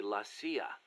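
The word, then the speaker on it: la CIA: around here they say la sia instead of c.i.a huh um nothing strange about it that's how it's pronounced when you read it in spanish it has the feminine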